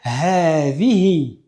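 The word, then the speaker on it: هذه: En arabe, on va dire "ha zi hi". Encore une fois, vous constatez qu'entre le ha et le dhel, nous n'avons pas de prolongement de alif.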